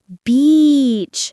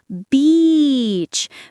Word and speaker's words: beach: So everyone remember beach make it long smile when you say it practice makes perfect.